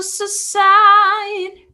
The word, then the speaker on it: subside: Esse B é mudo. I can feel it starting to subside.